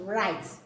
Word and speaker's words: write: am doing now right but letter W is silent we only have R as you hear me pronounce it right right you only hear the letter R so this is not